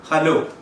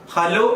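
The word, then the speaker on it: hello: ഏറ്റവും സിമ്പിൾ ആയിട്ടുള്ള ഒരു വാക്കാണ് അടുത്തത് ഹലോ. ഹലോ എന്നല്ല അത് ഉച്ചരിക്കേണ്ടത്. അത് ഉച്ചരിക്കേണ്ടത് ഹെലോ എന്നാണ്.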